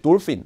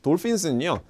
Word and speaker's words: dolphins: 그다음에 dolphin. dolphins는요. 별표 치시고 발음을 주의하시고 ph 발음, f 발음으로 나고요.